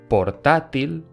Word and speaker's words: portátil: el punto es las palabras llanas como portátil tienen la fuerza en la penúltima sílaba portátil ejemplos de palabras